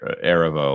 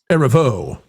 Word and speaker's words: Erivo: So when you have someone like Cynthia Erivo or Erivo or whatever that is at this point, I've decided to put the syllable on the last now since nobody else does it. It's Erivo.